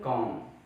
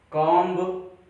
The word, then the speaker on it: comb: इसे हम पढ़ते हैं कॉम, कॉम्ब, बा बा नो, कॉम, कॉम मीन कंघी करना।